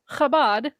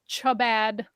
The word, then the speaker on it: Chabad: They pronounce this word, which is said Chabad, as Chabad.